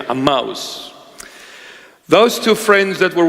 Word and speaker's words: Emmaus: Emmaus. Emmaus. That's the proper pronunciation, Emmaus.